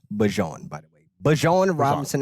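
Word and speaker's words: Bijan: It does not rhyme with a type of mustard. Real ones. No. Um, I've been trying to do this on game debut over the last few years with Bajan.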